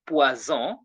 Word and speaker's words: poison: When letter S appears between two vowels, a single S appears between two vowels, the sound becomes what? Z. You get that? So we say poison.